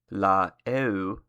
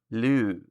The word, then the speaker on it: l'eau: For an example, instead of writing or saying the definite article and noun separately like this, in French, instead of saying la eau, and Italian, instead of saying la acqua, you would write it and say it like this. In French, it is l'eau. In Italian, it's l'acqua.